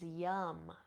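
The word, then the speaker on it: Yam: also To Love Yourself the seed sound here is Yum spelled y a pronounced yum y and there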